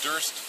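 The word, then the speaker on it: Duerst: The last name is Durst. It's spelled D-U-E-R-S-T.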